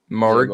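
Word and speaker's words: Moehrig: Moherg? Moherg. Morg, yeah, Trayvon Morg out of TCU.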